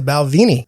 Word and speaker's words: Balvenie: brought Scotch he brought a 12-year Scotch the balvini I still don't know if I'm pronouncing it right oh you are you doing